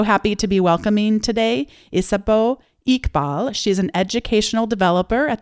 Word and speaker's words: Isabeau Iqbal: gets to know you and has the proper pronunciation. You did a great job. So it's Isabeau Iqbal.